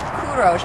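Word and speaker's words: Kourosh: No, in real life, Karush, can you turn around and say hi? Bloggers know who Karush is. Say hi. Hello. Hi, he's filming this. By the way, it's pronounced Kurosh, but that's okay.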